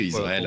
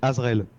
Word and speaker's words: Azraël: Qu'est-ce que Israël a joué là-dedans ? J'ai pas compris. Ouais. Pourquoi est-ce qu'il y a Israël ? Non non, c'est Azraël. Azraël.